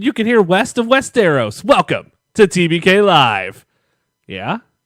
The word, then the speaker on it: Westeros: video yeah but it's pronounced Westeros like I'm the show dude